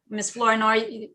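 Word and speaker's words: Flournoy: i do okay miss flowery this are we pronouncing your last name correctly no no it's floor noi the floor is yours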